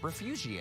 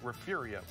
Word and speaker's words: Refugio: hey guys like that that words actually refugio riff riff urea for fury oh yeah there's a silent invisible are in there refugio perfect okay invisible are refugio yes sir okay okay all right